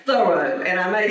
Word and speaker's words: Thoreau: come to understand that his family actually pronounce his name Thoreau instead of the road Thoreau like my mom used to say clean you better do a thorough job thorough thorough job when you clean those windows get into edges do a thorough job thoroughly so pronunciation was with the emphasis on the first part however I have been